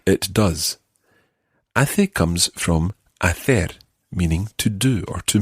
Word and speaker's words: hacer: Hace comes from hacer, meaning to do or to make. Hacer. Hacer. And in Latin America, you would say hacer.